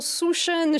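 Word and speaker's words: Sjusjøen: Et on prend des nouvelles de l'équipe de France de biathlon, direction Souchen. J'ai appris à le prononcer, ça y est, c'est fait.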